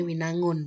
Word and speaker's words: Winangoen: Gondang tulisannya sih Winangoen, tapi kita kan bacanya Winangun ya.